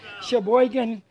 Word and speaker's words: Sheboygan: Some of the people from Wisconsin can help me with the difficult pronunciation of this one. Sheboygan? Is that right? Did I say it right? Sheboygan? Okay. Sheboygan pink tomato.